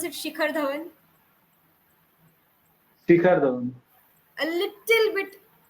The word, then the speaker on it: Shikhar Dhawan: Pronounce it Shikhar Dhawan. Shikhar Dhawan. A little bit. The H should be a little bit prominent.